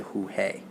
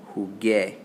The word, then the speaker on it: jugué: We don't want to say jugué. That's going to change the pronunciation. So we're going to stick a little U in there. We're going to say jugué. Jugué.